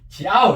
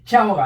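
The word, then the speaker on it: 鞘: 그러니까 이게 지아오 이렇게 하면 안 되죠. 지아오가 아니죠.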